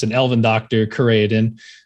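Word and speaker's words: Chireadan: it's an elven doctor creatine although i think in the show they pronounce it chiraedin but i'm going based off of the way it's pronounced from the books that whenever i listen to them so who knows um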